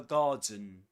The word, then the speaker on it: garden: This starts, this word garden starts with the same vowel sound as in answer.